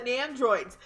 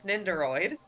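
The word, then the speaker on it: Nendoroid: One of the Nandroids. They're $350 each. I like how you pronounce that. It's Neroid.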